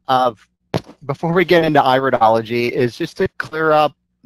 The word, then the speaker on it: iridology: to let you know, it is not the study of the ear. So when you're referring to iridology, you could refer to this as iridology, knowing that you have the correct pronunciation.